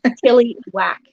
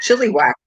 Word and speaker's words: Chilliwack: It's spelled chili whack. What? It's spelled like chili and then whack. Oh, chili whack.